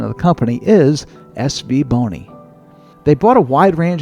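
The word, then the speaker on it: SVBONY: impression and I've also confirmed that the correct pronunciation of the company is SV Bony.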